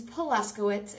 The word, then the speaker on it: Paluszkiewicz: My last name's Polaskowitz.